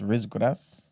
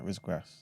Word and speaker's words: riz gras: They got something called, I believe it's pronounced Rizgras. So RIZ and then GRAS. 2 separate words.